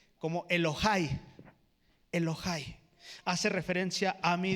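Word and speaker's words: אֱלֹהַי: Y cuando hace referencia a mi Dios, en el hebreo original se pronuncia como Elohai.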